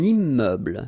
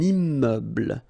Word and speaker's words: immeuble: pronounced un musée un immeuble so you can see I'm making this little liaison between the two un immeuble final e not pronounced un immeuble un st